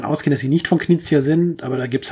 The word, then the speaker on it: Knizia: Knizia.